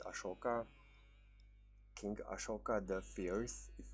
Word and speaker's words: Ashoka: I don't know okay ahsoka or I think the proper way to pronounce it is ashoka king ashoka the fierce